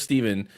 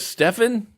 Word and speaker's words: Stephen: Got to the end, dude goes, Stefan? And I said, oh, it's pronounced Steven. He goes, well, it's spelled Stefan.